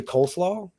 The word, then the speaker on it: Klaw: to point out uh you did pronounce a really good friend of mine's name wrong uh it's actually Klaw oh yeah no